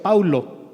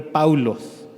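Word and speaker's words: Παῦλος: En griego, el nombre Pablo se pronuncia Paulo, es muy parecido a Saulo, casi nada más cambia la primera letra. En lugar de Saulo, le puso el nombre Paulos.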